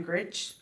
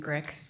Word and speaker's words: Grick: Next is Gritch, and the subject is DEI. So it's actually Grick, rhymes with Oh, I brick.